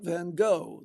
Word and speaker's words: Van Gogh: Manhattan, when Diane Keaton loftily pronounces Van Go, not Van Gogh, the way most English people say it, but the Dutch way. Van Go as in co, but more Flemy.